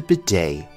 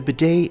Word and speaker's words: bidet: European countries is the bidet. The T here is silent. This is a French word in origin, so it is pronounced a little bit differently than you might expect. The bidet is used for cleaning oneself after using the toilet.